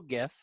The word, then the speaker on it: gif: I posted a single gift jiff jiff I posted a gift that's right I say gif because that's how it should be pronounced leaving a screen shirt